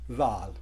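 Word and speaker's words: ذال: लेकिन इसे जब प्रोनाउंस करना है तो आपकी टंग जो है बिटवीन टीथ होनी चाहिए, जाल, जाल।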